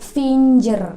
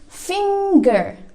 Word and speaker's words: finger: Kebanyakan orang Indonesia masih bacanya itu finger, pakai huruf J, finger, ya kan? But the real one, the correct one, yang benar yaitu finger. Repeat after me, finger. Jadi nggak ada suara J di situ, tapi adanya suara G. It's not finger, but it's finger. So that's the point why